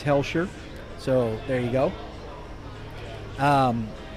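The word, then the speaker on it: Hoelscher: Um, it's Hellshshire. H O E L S H. I said Holshire. Uh, I was incorrect. It's Hellshshire.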